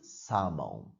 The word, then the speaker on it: salmon: pronunciation of this word when you pronounce it you don't say the L so it's Simone yeah we have the fish tuna and salmon another kind of seafood